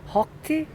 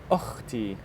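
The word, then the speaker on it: أختي: So you see in Arabic we have ha, Ha. Yeah. throat letter, but also we have kha. Like hotel. No, kha. Ha. So it's like German and Russian people, they're actually good at it.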